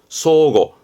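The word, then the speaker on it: 相互: 상호간에 할 때 상호입니다 발음은 서고 소고 발음 조심하세요 작습니다 소고 요거는 위 지난번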